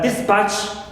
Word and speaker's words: dispatch: this is neutral uh dispatch right here also this is Nal clear also we have